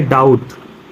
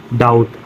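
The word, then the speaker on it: doubt: पर क्या होगा डेट फिर ये लिखा है डाउट इसे क्या पढ़ेंगे डाउट इसे पढ़ेंगे सटल इसे क्या पढ़ेंगे सटल आगे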